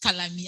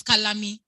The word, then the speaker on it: kalami: packaged fried fish oh kalami okay i mean it's pronounced color me i'm trying to make it sound british but amazonian so it's kalami yeah thank you being